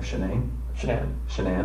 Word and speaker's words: Shanann: And I don't want to pronounce her name wrong. Shanann.